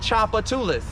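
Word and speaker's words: Tchoupitoulas: to the hom and Chapa tulis that's how you pronounce that street Chapa tulis over there by the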